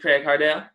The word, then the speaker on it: Craige Hardel: Craig Hart Dale he is up there for nothing right put up your mutant all right that's how you pronounce it Craig hard out yes Krish you have a just about right